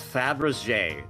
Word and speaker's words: Fabergé: It's Fabergé.